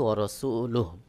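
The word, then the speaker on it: ورسوله: হার উপরে পেশ রয়েছে, এটা ওয়াকফ করলে সাকিন হয়ে যাবে, এখানে সাকিন করে দিব। তো সহি উচ্চারণ হবে ওয়া রাসূলুহু।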